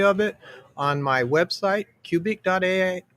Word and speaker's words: Qubik.ai: it on my website, cubic.ai. It's spelled sort of like Rubik, except with a Q, QUBIK.ai.